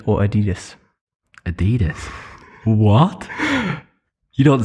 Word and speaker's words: Adidas: Nike or Adidas? Adidas. What? You don't say Adidas, do you? Adidas or Adidas?